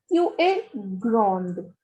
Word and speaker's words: grand: Because the last consonant is always silent.